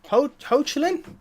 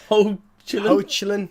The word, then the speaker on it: Hoechlin: It actually says ho. Yeah, exactly. Hoechlin, yeah. Hoechlin, I don't know. Tyler Hoechlin.